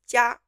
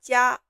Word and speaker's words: 家: And also for 鸡 It will be very hard for English speakers to say the word for family, which is 家, because it contains this consonant 鸡.